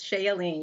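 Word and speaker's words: Shea Yeleen: Shay Yellen? Hi, Roland. Thank you for having me. Yes, it's Shay Yellen. You're pronouncing it correctly.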